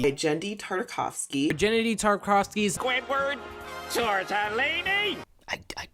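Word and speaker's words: Genndy Tartakovsky: anything he's ever made, I still feel compelled not to get his name wrong on purpose for a cheap gag or because I'm too lazy to look it up. Gendy Tartakovsky. Gendy Tartakovsky.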